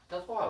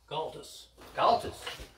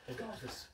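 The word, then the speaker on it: Gaultois: How do you say that? Galtois, right? Galtus. Looks like Galtois to me. Galtus. Does he say Galtus?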